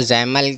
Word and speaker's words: XAML: अच्छा, जो जैमल था उसको XAML कहते हैं, जिसको हम प्रोनाउंस यानी पढ़ते जैमल हैं, ठीक है।